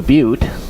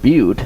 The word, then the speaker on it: Butte: And I took a trip, went to Butte. I didn't see anything about that, and so I couldn't even, pronounce the word Butte. I called it Butt.